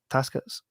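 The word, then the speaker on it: Takács: The Gate, you know, Tibor Taskets.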